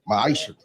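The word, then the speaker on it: ma'aser: You find this in the book of numbers chapter 18 verse 21 in the book of Malachi 3:8-10 means 10th in Hebrew and it's pronounced maisha 10% of every penny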